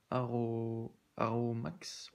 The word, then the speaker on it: ARROWMAX: Donc, aujourd'hui, ça va être une petite vidéo de présentation d'un set d'outils donc chez Aro Max, voilà, pour le prononcer.